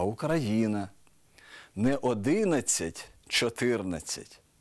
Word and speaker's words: Україна: у яких найбільше помиляєтесь не український а український не Україна а Україна не 11 14 а